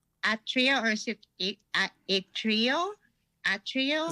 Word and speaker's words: Atreyu: uh where they got their name your name atria or a trio a trio how do you pronounce the name so it's a trio uh we got this well actually my dad